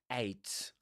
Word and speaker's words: ate: Morgan Derwent Shimpling 1912 to present ate an entire eight. Eight. Right. That's a pronunciation.